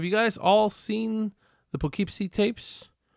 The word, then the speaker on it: Poughkeepsie: seen the pokepc tapes i believe i'm pronouncing it right now the poughkeepsie that's how they were pronouncing it in the movie so of course my canadian acts my western canadian accent is probably not very good for for pronouncing that but uh yeah if